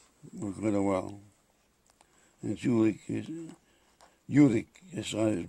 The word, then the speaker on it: Jülich: And Jülich is how they pronounce it.